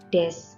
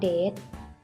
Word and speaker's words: です: คำ นาม เดอะ ส คำ นี้ ออก เสียง ว่า 7s ไม่ ได้ ออก เสียง ว่า เดรส เดรส แปล ว่า ตา ใน ภาษา อังกฤษ นะ คะ จบ ท้าย ประโยค ไม่ ตาย ค่ะ เพราะ ฉะนั้น เรา จะ ไม่ ออก เสียง ว่า Dead แต่ จะ ออก เสียง ว่า เดอะ ส มี หลาย คน อาจ